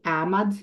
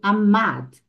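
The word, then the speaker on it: עמד: gente na última sílaba Então você não vai ler amad e sim amad Mad tá tonifica aí só Relembrando tá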